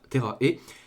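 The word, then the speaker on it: Terra e...: du manga Terra E, je pense que ça se prononce Terra E, qui est un classique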